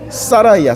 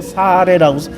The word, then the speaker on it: 사라이: 근데 영어로는 사라이야. 사라이. 아이잖아. 아이잖아. 그러니까 옛날에 영어를 모를 때 어떤 인간이 한글식으로 아하 아 여기 A 발음을 아 아이 발음을이 해서 붙여서 사레라고 번역을 해 놓은 거야.